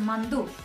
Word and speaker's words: манду: На 6 месте идет корейское блюдо, которое называется манду. Его произношение очень сильно похоже на слово, на наше слово манты.